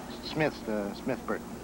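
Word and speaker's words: Smith-Burton: Smith Burton. There's a hyphen in there, but I never pronounce it.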